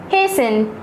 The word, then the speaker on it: hasten: Hasten, H-A-S-T-E-N. Fasten, F-A-S-T-E-N. Remember, in these two words, T is silent.